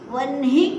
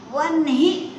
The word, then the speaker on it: वह्नि: हाँ, जो कोई वह्नि कहते हैं ना, यानी आधे न का उच्चारण और ही का उच्चारण करते हैं, वो गलत बोलते हैं। वह्नि नहीं है, वह्नि। ह आधा है और नी पूर्ण है, क्योंकि वह धातु से यह शब्द निष्पन्न हुआ है।